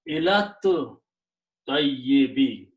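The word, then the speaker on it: إلى الطيب: And again, now you read together and do not pronounce this alif. So it becomes ilat tayyibi, to the righteous or to the purest.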